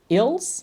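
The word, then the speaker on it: ils: they which it means ills right don't pronounce the S though it's ill Mash okay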